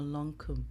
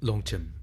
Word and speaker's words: Longchem: Okay, so did I pronounce wrongly? Is it Longchem or Longkum? Longchem. It is Longchem, right? Yeah.